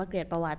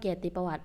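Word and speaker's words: เกียรติประวัติ: คำ ว่า เกีตรติ ประวัติ หลาย คน ยัง จะ เข้า ใจ อยู่ ว่า อ่าน ว่า เกลียด ประวัติ ใจ จริง แล้ว ไม่ ใช่ เรา จะ อะ รอด เกียร์ติ ประวัติ เพราะ ว่า มัน คือ คำ สมาส โอเค ไป ต่อ ข้อ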